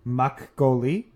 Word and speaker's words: makgeolli: So I have some Korean black bean rice wine in front of me, which I'm going to attempt to pronounce, is called makgeolli.